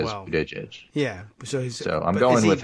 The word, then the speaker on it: Buttigieg: Buttigieg. Yes. I'm boot, edge. Boot, edge is what I was told.